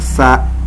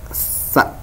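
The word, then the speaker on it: ث: Kemudian ada juga huruf sa ya, ini pembacaannya huruf sa ini ada ts seperti itu, ts sa ya. Ini berbeda dengan sa ataupun sya.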